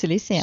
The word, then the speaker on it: Silicea: Or am I pronouncing it close? It's Silicea.